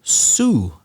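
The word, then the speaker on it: Sioux: people so south dakota is a state so su language that's spelled s-i-o-u-x they were one of the the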